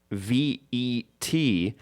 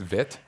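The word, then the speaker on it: Veidt: Fun fact: you may pronounce VET, but you're wrong. It has and always will be VIT.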